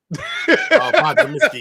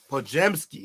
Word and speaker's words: Podziemski: Podzimski, yeah. Podzimski? Yeah. Zeminski? He got the bling on. Podziemski. That's how you say his name.